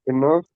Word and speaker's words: enough: this Make sure enough these days. all right. Make sure you have a F sound at the end.